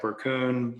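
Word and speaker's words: Berkun: Scott Burkun, how do you say it? Burkun.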